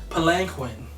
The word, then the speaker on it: palanquin: they finally got the palanquin that's how you pronounce it Palin palanquin palanquin the the hand card [